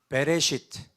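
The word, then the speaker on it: בראשית: 그러나 저기 단어가 어떻게 읽는 거냐면 베레시트라고 읽는 거예요. 히브리어는 여러분 다 아시겠지만 지금 왜 저기다가 써놨을까요?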